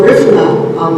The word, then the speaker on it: Garifuna: So Garifuna, that's actually how you pronounce it, which has been written about also under names like Central American Island Carib and Black Carib.